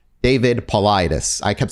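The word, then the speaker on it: Paulides: david and i'm going to i apologize for mispronouncing his name last time his his last name is paulidas david politis i kept saying polite because it's just how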